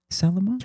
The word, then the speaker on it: Salomon: So fifth place Matias Kibbers of Switzerland running for how do you pronounce it Caitlyn? Salomon. Salomon.